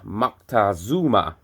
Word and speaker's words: Moctezuma: They give you a pronunciation for Montezuma, which is Moctezuma.